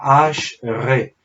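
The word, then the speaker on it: אשרי: que se dice o que suena como está acá, Ash-Re.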